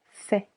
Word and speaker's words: fait: Tu fais il ont fait lettre T fait. That is silent.